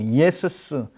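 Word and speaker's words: Ἰησοῦς: 우리가 잘 알고 있는 여호수아 히브리식으로 여호수아를 헬라식으로 발음하면 예수 예수스 이렇게 발음하는 거예요.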